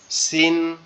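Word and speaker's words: سين: তাইলে কি দুইটা কিন্তু দুই রকম আওয়াজ হবে, একটা হবে কি মজবুত আওয়াজ, শক্ত আওয়াজ, আর একটা হবে কি চিকন আওয়াজ।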